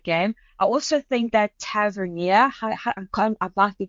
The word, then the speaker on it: Tavernier: I also think that Tavernier, I might be pronouncing.